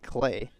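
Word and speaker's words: Klei: Spells his first name K-L-E-I. Pronounced like Clay.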